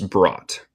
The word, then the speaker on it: brought: Cuando tenemos UGHT, no pronunciamos esto, solo es brought.